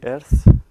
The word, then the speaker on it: Earth: Tenemos móviles donde con Google Earth, creo que se pronuncia así, Earth, podéis ver mi casa en Austin.